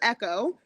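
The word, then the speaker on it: Eko: So this is Echo, but it is spelled with a K, E-K-O, because of the fact that we are also Nigerian on my daddy's side.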